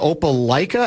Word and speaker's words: Opelika: This is from 952 guy says he's been a long-term Minnesota guy, but thinking of moving to How do you pronounce it? Is it Opelika, Alabama?